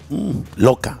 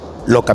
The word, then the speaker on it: Ioka: Loca, así se pronuncia. No sé cómo se pronunciará en Japón, pero en español se pronuncia Sakuto Loca.